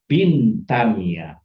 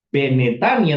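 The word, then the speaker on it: בנתניה: Maka dibaca bintania ya. bintania bukan benetannya tapi bintannya karena seva sama seva ketemu seva di awal dijadikan i.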